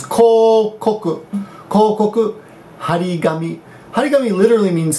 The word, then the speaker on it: 広告: That means that kanji alone means hiroi, but in this pronunciation is kokoku.